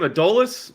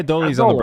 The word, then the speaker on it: Adolis: Adolis? Adolis. Adolis? They say Adolis on the broadcast. Yeah, see, I watch it muted. I'm just kidding, guys. I actually do that a lot. They do say Adolis a lot.